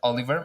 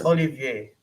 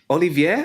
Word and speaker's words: Olivier: way, like instead of Oliver, most people will pronounce Oliver, I think, and forget the I before the E.